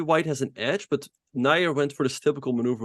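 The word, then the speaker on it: Najer: Let's check back in Fabiano's game against, how do you pronounce his name? Nair? Just Nair?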